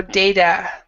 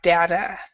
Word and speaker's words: data: and both of you did not pronounce the last A very well. So data or data, data or data. So you still have to pronounce the last word, even though it is not stressed very much. Data, data. Okay. All right. Data. Yeah. Both pronunciations are correct.